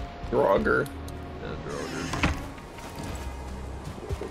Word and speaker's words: Draugr: Druger. Draugr.